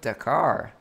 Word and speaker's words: Dhakhar: today I've got an interview for you with darar is that how I pronounce your name yeah that's uh perfect actually